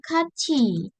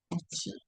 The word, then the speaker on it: 같이: 저는 친구랑 untuk tulisannya gat이 gitu ya. Tapi untuk bacanya 같이. 같이.